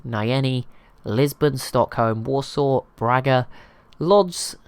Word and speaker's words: Łódź: Lisbon, Stockholm, Warsaw, Braga, Lodz, or Łódź, I nearly forgot, but that's how you say it apparently, Marrakesh, Rabat, Barcelona, Azure,